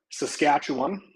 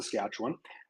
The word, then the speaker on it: Saskatchewan: from being the us but Scott is from Saskatchewan that's how we pronounce it up here it's the scatch one and Scott's just a couple hours down the